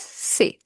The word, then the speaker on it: ces: CES is pronounced as say.